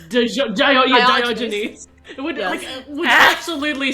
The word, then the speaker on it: Diogenes: How do you say his Diogenes? name? Diogenes.